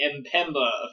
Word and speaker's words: Mpemba: We were unable to prove the Mpemba effect, as Siri informed us it's actually pronounced. The Mpemba effect didn't actually work for us.